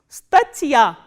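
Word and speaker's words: статья: For example, how will you read this word? S, t, a, t, and again soft sign, and ya. Stachya. Stachya is an article.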